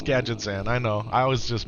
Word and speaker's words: Gadgetzan: Used to pronounce it Gadgzan back in the day, too. Gad Gadgetzan. Yeah, it's Gadgetzan.